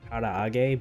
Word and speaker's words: karaage: I think it's actually pronounced karaage, but...I always blend the middle A's.